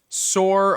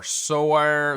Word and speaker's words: SOARE: The final one is sore or saw. So, I've heard it pronounced different ways.